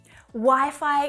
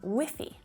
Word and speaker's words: Wi-Fi: common one one that my students often mispronounce by saying whiffy which actually sounds a little bit like a very informal word for kind of smelly wolfy whiffy you know